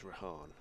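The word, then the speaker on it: Rehan: out to rahan ahed I did ask rahan when he first came into the side last year how you know pronunciation he prefers he said his mom prefers rahan so he he doesn't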